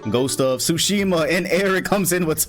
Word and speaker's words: Tsushima: I actually streamed a bit earlier today so I can get some Ghost of don't pronounce the T. Do not pronounce the T. Ghost of Tsushima, and Eric comes in with 20.